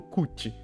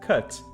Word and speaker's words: cut: se u aqui olha é como se a gente lesse tipo assim olha com acento circunflexo no português sabe a gente não pode ler tipo Cut sabe não é assim